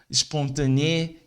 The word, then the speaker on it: spontané: Os brasileiros têm a mania de colocar a letra E antes do S ao pronunciar as palavras. Mas no francês não tem a letra E. A gente deve começar como S. Por exemplo, aqui, ó. Sport, não é sport. Sport, stupide, spontané, espasme, são pronunciadas com S.